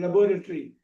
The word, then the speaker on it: laboratory: Laboratory is the American pronunciation laboratory.